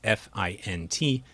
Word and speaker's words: fint: non-words, in this case F-I-N-T, and we train the model to pronounce it as fint, as if it were a real word.